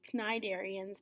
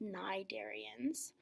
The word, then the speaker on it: cnidarians: first of all pronunciation the C is actually silent for this phylum it's tempting to call them cnidarians but the C is silent so it's actually just cnidarians okay and a cnidarian